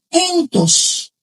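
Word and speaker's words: ἐντός: que recolecta ese entres significan se pronuncia entos.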